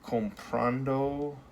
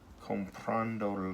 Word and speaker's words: comprando: Comprando, comprando lo. Now, our voice goes up on comprando, goes up on this A right here, and when you add